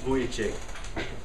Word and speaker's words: Vujicic: write down this name the name is nick boyachie last name is spelled v-u-j i-c-i-c now that you know his